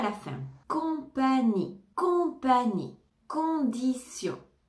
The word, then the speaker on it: condition: la fin compagnie compagnie condition condition condition ici le T se prononce comm un S condition condition condition correcte